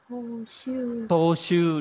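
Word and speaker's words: 踏襲: Đấy, đọc là Toshu, đúng rồi, đáp án 2. Đáp án số 2 nhá. Toshu có trường âm.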